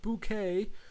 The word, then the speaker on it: Bucket: It was spelt Bucket, but the woman in the family was like really posh, and she always corrected people when it's pronounced bouquet.